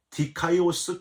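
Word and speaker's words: δίκαιος: 여기서 의롭고 경건하여, 이게 디카이오스 카이 유라베스라고 발음을 하는데요.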